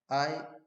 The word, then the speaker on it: IUPAC: This system is known as IUPAC system of nomenclature and it is pronounced as IUPAC.